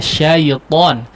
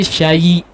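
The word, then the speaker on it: شيطان: huruf iya sukun ya, syaiton. Huruf lin itu dibacanya mudah ya, jangan ada iya hidup di situ, cuma nempel saja ya. Syaiton, jangan jadi syayi ya, syayi atau terkesan yi ya.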